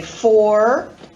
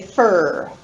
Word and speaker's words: for: I don't say for, I say fur.